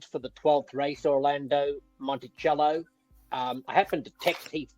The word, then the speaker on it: Monticello: well for broadcasting purposes, because Monticello and Monticello are both accepted pronunciations, and the word came back from Heath Monticello, for what it's worth. So that's what I'm going to be calling the horse.